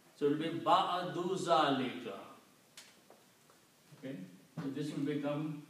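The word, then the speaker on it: بعد ذلك: Now, if I combine these two together, it will be again, as the rule is that you pronounce one Dhamma. So it will be Ba'adu Zalika. Okay? So this will become Ba'adu Zalika.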